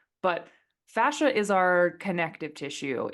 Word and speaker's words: fascia: originally from Cincinnati, so I always call it fascia. That's just the hard A's that always happen with me, but I've heard it pronounced multiple ways. But fascia is our connective tissue.